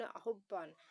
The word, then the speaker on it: আহ্বান: এটার ঠিক উচ্চারণ আহ্বান।